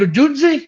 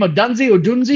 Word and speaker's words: Odunze: But Odunze, is that how you say his name? Odunze? Yeah. I think it's Odunze.